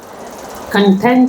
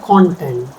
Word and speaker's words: content: Second is content and content both are different content stress on the second syllable and content stress on the first syllable different meanings.